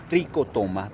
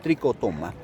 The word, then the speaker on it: trichotoma: chef como está en latín la che se pronuncia como una cuba entonces quedaría como cordia tricotoma tricotoma Bueno si ustedes se pregunta si tiene nombre